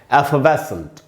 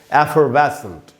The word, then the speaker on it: effervescent: एफवेसेंट, ये British English में उच्चारण है। अमेरिकन इंग्लिश में इसका उच्चारण होगा एफरवेसेंट, ब्रिटिश इंग्लिश में होगा एफवेसेंट।